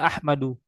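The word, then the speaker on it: أحمدُ: Ahmadu, dibacanya Ahmadu. Bukan Ahmadun, tapi Ahmadu.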